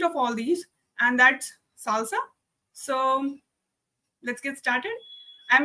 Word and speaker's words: SLSA: What is the Salsa? I know it is just pronounced like it, but its full form is supply chain levels for secure software artifacts.